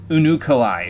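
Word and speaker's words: Unukalhai: I will meet you in Azizlah there, in Unukalai, excuse me. I had to look at SP's pronunciation again to make sure I didn't butcher it again. Okay, so out we go.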